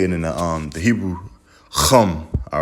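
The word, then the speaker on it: חם: Okay, right there you got Chama. All right, but you're not gonna say it like that. You're gonna say Chum. All right, Chum.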